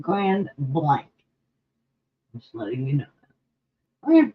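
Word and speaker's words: Grand Blanc: you look nailbox 1117 ground blank actually they pronounce it Grand Blank just letting you know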